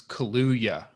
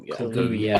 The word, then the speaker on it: Kaluuya: It's Kaluuya. So the two U's are pronounced with a U. Daniel Kaluuya.